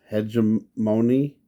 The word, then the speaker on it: Hegemony: Also, just wanted to say the name of this episode is, how do you pronounce this? Hegemony.